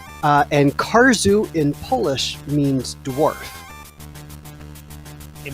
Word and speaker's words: Karzeł: royal-blue wizard mentioned in chat the game is pronounced cars ooh the L is the low line through it is like a W okay cars ooh and cars ooh in Polish means dwarf it means war indeed